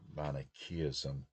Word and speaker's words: Manichaeism: Persian prophet Mani, uh, founder, I guess, of Manichaeism, sometimes pronounce it Manichaeism, but Manichaeism, lost his head and had it placed on